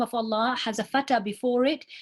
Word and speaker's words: Allah: before the name of Allah we know that we pronounce that lamb in the name of Allah heavy so it's Allah who saw